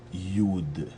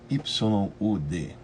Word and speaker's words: Yud: letra que se chama Yud. Y-U-D. Ela tem um som de I, né? Então ela sai Yud. Então ela se escreve Y-U-D, como se fosse o Ya, né?